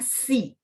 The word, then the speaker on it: xi: XI itu bacanya si, ya, XI. Jadi bacanya X-nya di sini, bunyinya kayak S bahasa Indonesia. Jadi si.